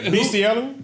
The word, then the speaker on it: bestiality: Bestiality. Oh, it's it's pronounced best. Bestiality. Well, it doesn't come from the word beast. It comes from the word bestial.